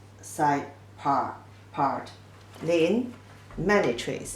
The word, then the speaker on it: 林: In pronunciation, 了音, lin.